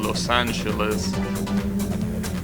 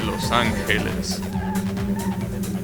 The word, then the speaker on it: Los Angeles: interesting in l.a obviously americans pronouncing los angeles but the correct pronunciation in spanish will be los angeles the she when it's before an e or an i in spanish it's uh